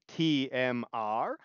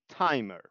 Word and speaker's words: TMR: This one is called TMR, which you can pronounce as an acronym, TMR, or as a single word, timer.